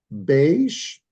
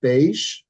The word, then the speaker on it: beige: Okay, you got beige, not beige. Okay, beige. Why? Because these are simply words taken from another language and then pronounced the way they are usually pronounced in the other language.